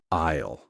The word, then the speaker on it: aisle: Yes, the s is completely silent. You do not say ale cell. You say isle like the word isle with a little extra sound at the end. Isle. aisle.